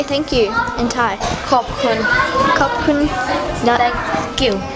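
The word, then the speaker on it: ขอบคุณ: Khop kun.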